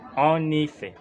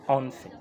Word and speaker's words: en effet: F F et T en effet il faut pas lire en fait il faut plutôt lire en effet il faut prononcer en effet pas en fait tout à fait c'est